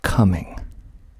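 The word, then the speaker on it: Cumming: but there is a town in Georgia called coming spelled c u m m i n g coming we'll just keep we'll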